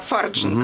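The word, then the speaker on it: Farjeon: Она британка, она Фарджин, конечно, ударение.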